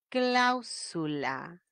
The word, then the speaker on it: cláusula: y si es grave termine en vocal no lleva tilde la cláusula lee bien la cláusula del contrato cláusula ojo la mayor fuerza de voz en la